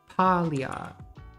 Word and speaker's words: Paglia: sexual persona by paulia how is this woman's name pronounced aglia or pallia palia we really need to get to the bottom of this wikipedia says eh the italian way not the english way okay i've been